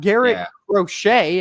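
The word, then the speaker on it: Garrett Crochet: same thing with the white socks you've got Garett rochet as we just recently learned it's properly pronounced who is a currently a Sai Young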